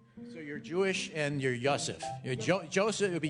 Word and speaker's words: Yosef: No, Y-O-S-E-F. Yosef.